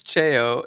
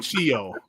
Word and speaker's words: Cheo: He even puts the pronunciation in there. It's Cheo, and he still calls it Cheo. That's great. I call him Chio.